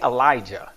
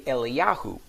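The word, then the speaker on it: אליהו: Hebrews they don't say Elijah they don't say that that's an English word English name they say eliyahu and eliyahu is exactly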